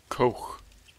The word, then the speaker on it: Koch: that would fix everything Coke is how you pronounce that not the way you think it would be six oh she's red